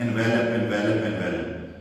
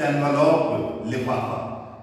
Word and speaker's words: envelope: यूज हुआ है एनवलप्स, इसको हम गलत प्रोनाउंस करते हैं आमतौर पर 99% लोग एनवेलप एनवेलप एनवेलप। वर्ब जब होता है तो ये एनवेलप होता है, जब ये नाउन है जैसे यहां नाउन है तो एनवलप लिफाफा, लिटिल रेड एनवलप्स, छोटे